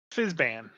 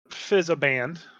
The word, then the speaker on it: Fizban: got around to it so Fizz band Yes not Fizz aband not Fizz Bang uh that's fizzy soda